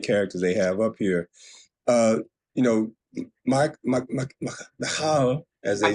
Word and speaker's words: Michal: Michal, as they say. Now, when I read it in the Bible, I always said Michael. I mean, it's spelled like Michael, pretty much.